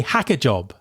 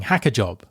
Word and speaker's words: hackajob: Support for this podcast is provided by HackerJob, a reverse marketplace that actively vets engineers.